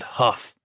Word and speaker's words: Hough: Gity Baker McVze, a struggling holloweyed skeleton named George Fielder, Bill Huff. Pronounce that Huff, he had told Gity